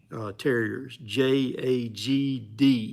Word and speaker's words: Jagd: They're Jag terriers. Jagd is how you say it. They're a German dog, and if you get